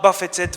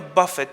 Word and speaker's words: buffet: Example 2, many people are buffeted by similar problems. Example 3, I wanted to strike him a buffet for what he said.